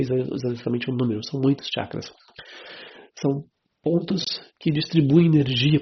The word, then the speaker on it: chakras: coisinha a respeito dos chakras. Os chakras. Chakras. A pronúncia é essa. Tchá. Tchá. Chakras.